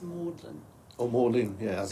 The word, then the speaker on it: Magdalen: the town that is spelled like Mary Magdalene the saint but it's pronounced Maudlin or Morgan yeah I